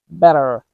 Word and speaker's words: better: In the word better, we do not say it like bitter. It's not like a strong D sound, but a fast D sound like better, better, better, water, water, computer, computer.